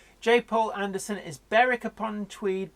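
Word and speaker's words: Berwick-upon-Tweed: Paul and understand is barrack upon tweed basically about yes it's not Berwick yeah like an ik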